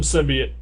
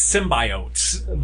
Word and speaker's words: symbiote: number 11 the Venom symbiot is am I pronouncing that right uh it's symbiote the Venom symbiote yes thank you came